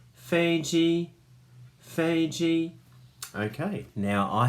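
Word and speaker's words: 飞机: words and how to say it it says Fei Jie Fei Jie okay now I have some words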